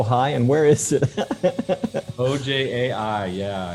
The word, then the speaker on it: Ojai: you say oh hi and where is it ojai yeah it's uh it's a little town it's